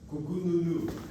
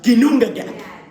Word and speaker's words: Ginnungagap: Let me write that down for you so you can try to pronounce that. Ginnungagap. I'll write it here. Kukununu. Ginnungagap. Yes. No. It is not. It is really called Ginnungagap.